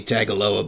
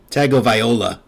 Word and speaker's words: Tagovailoa: Richardson, Joe Milton, Tua who's I should say Tagovailoa but Tagovaiola and I don't even know that's how you pronounce it.